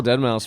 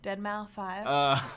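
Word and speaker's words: deadmau5: That's where I'm like, I was like, no, I saw Dead Mouse once. That was awesome. That'd be. For the longest time, I thought Dead Mouse was Dead Mouse 5.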